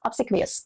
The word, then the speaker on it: obsequious: It's obsequious.